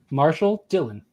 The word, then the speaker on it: Marshall Dillon: Let's hear you not mispronounce it. It is Marshall Dillon.